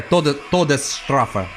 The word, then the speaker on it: Todesstrafe: Yeah, Todesstrafe. That's the right pronunciation.